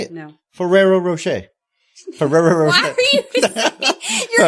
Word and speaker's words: Ferrero Rocher: telling it was the the chocolate here from Ferrero Rocher um say it right Ferrero Rocher no what go ahead that's how you say it no Ferrero Rocher ferero why are you you're adding like seven